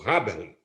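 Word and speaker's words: Häberle: Tem uma contribuição da teoria constitucional muito importante de um alemão chamado Peter Arbelli, a pronúncia deve ser essa, o Haberli, em alemão, que é o autor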